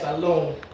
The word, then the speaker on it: Salone: We KG here. Salone. Oh, that's how you say it? Yeah.